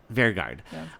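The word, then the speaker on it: Vegard: Vergard.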